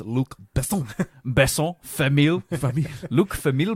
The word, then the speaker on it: Luc Besson: That's a Luc Besson film. I believe it's pronounced Luc Besson.